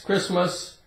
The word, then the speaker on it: Christmas: st st Christmas Christmas we say Chris like a man's name Chris and we have mus Christmas it's a holiday for Christians right Christmas the T is silent we have the word